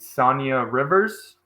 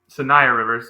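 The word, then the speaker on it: Saniya Rivers: Sonia Rivers. Um Sayia Rivers, excuse me.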